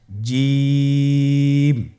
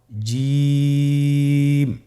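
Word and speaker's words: ج: দেখুন আমি কিভাবে উচ্চারণ করছি, আপনারা আমার সাথে করুন জিম। মাশাআল্লাহ, আবার বলুন জিম। আপনারা চেষ্টা করুন, হয়ে যাবে। এর মাখরাজ হলো জিহ্বার মধ্যখান, তার বরাবর উপরের তালুর সঙ্গে লাগিয়ে উচ্চারিত হয়।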